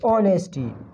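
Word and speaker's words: honest: है ये एब्सेंट है ऑनेस्टी ऑनेस्टी जो है यह क्या है ऑनेस्टी ऑनेस्ट ऑनेस्ट ऑनेस्ट क्या है यहां पर जो है इसमें ये एच क्या है यह साइलेंट है ऑनेस्ट ऑनेस्ट जो है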